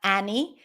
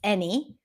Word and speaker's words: any: It's not any, it's any. Many.